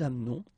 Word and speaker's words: amenons: Nous doesn't change, nous amenons, okay, it's a silent here, mute, amenons.